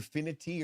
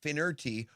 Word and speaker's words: Finerty: It's either finity or fin. Oh, yeah. It's an R. Finerty.